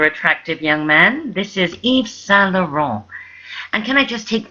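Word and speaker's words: Yves Saint Laurent: anything like that it's eve s lauron you don't pronounce the tees and you don't say Saint or anything that sounds like it it's s e all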